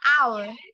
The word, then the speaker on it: hour: Teacher, hour. Hour, excellent. Thế thì cái từ em vừa phát âm nó bắt đầu là âm gì?